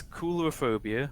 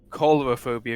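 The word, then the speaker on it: Coulrophobia: grace all right so it's it's cooler phobia or cholera phobia if you're american so we've been saying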